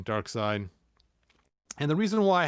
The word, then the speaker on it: Darkseid: at the time that dark siege came out or dark seed or dark side how do you say his name dark side and the reason why